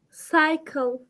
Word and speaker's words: cycle: that word for me cycle right good and you remembered something when you have the letter c and the next letter is y the C sounds like s so cycle see you